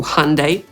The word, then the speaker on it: Hyundai: Te najtrudniejsze to Hyundai, czyli po angielsku /ˈhʌndeɪ/, Fiat – po angielsku /ˈfiːɑːt/, Mercedes – po angielsku /mɚˈseɪdiːz/ i Porsche.